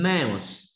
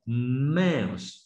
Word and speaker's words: mouse: Không đọc là mau như tiếng Việt nào. Mouse is a mouse.